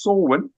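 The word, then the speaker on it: Samhain: of swin it's spelled Sam ha but it's pronounced swin and that was the Festival of the Dead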